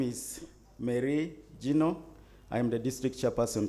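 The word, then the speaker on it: Meri Jino: afternoon my name is marie gino i am the district chairperson cabon moderator i don't think you pronounce my name well mary is m-e-r-i then gino is j-i-n-o okay yeah so thank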